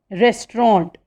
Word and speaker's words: restaurant: Okay, next is restaurant, restaurant. Okay, its correct pronunciation is restaurant, means a place where you can eat a meal.